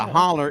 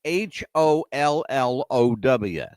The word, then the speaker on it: hollow: down it's down in the holler because the holler is a valley yeah it's down in the holler but holler is spelled h o l l o w uhhuh we pronounce that Hollow mhm but they